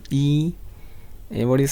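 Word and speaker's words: 一: lot of minutes now one is e yes good e e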